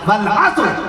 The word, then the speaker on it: عصر: ایسی عصر کی نماز نہیں, عصر کی نماز پڑھنے جا رہا نہیں, عصر نہیں. اللہ نے قرآن مجید میں باقاعدہ تلفظ بتا دیا, والعصر قسم ہے زمانے کی, والعصر عصر نہیں فرمایا اللہ نے.